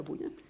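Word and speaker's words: Bunyan: años por un señor John buyan se se pronuncia buyan y este se los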